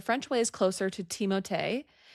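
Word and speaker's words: Timothée: No, but French pronunciation. It doesn't sound like it's Timoth, right? It's Timote. Timote. Timote. Timote. Not Timothy.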